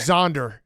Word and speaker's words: Xander: Zonder is how he pronounces it.